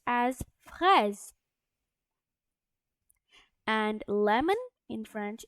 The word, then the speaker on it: fraise: as banane, and a strawberry in French it's pronounced as fraise.